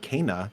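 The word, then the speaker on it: Kena: This week, we're going to have hands-on impressions of Kana, which is how you say that game now. Kana, Bridge of Spirits.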